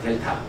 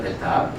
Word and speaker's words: 델타: 얘 얘 뭐라고 읽어요? 아, 델타. 그죠? 델타.